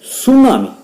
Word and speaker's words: tsunami: Sixth आपल्याला दिलेले की there is the earthquake at the bottom of the ocean it may create सुनामी. Spelling नीट लक्षात ठेवा, टीचा उच्चार त्या ठिकाणी सायलेंट आहे, TSUNAMI.